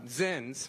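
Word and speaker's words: Zyns: on sin which uh zins rhymes with sins are those packets of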